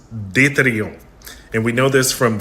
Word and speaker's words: Destrehan: just heard it in French and Creole, it's pronounced deton. And we know this from various historical records where we see alternative spellings of the name like these three. And of course in English most people say Destraan.